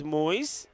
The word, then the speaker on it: Moyes: So, Moyes, he says it's Moyes. is the way you pronounce his name.